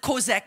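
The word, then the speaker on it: chazak: This word encourage is a Hebrew word, kozak. You pronounce it kozak, but it's spelled C-H-A-Z-A-K.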